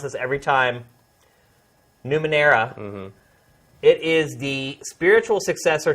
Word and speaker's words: Numenera: The next one I'm going to talk about is Torment, Tides of, and let me get this right, I mispronounce this every time, Numenera.